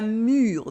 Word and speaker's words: mûre: It's like the difference between l'amour, love with the OU sound, and la mûre, the berry, la mûre with the sound U.